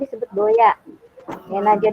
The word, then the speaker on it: Doea: gini, Doya itu U-nya pakai U, ejaan lama OE. Doa. Ya, harusnya DUA. SMP 2 kan DUA, nah U-nya pakai ejaan lama OE, jadi DOEA dibacanya, digabung jadi Doya gitu.